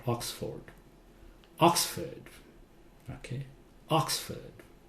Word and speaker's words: Oxford: Oxford. Okay, Oxford. So this part sounds like Ford. Oxford.